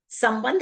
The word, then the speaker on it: संबंध: संता संबंध एक बहुत अच्छा शब्द है। उसमें एक बार म की आवाज आती है और ब के बाद न की साउंड आती है।